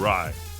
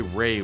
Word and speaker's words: Rye: How do you say his last name? Rye. Aaron Rye. Why can't I be like him? So I want to say Ray when I see it.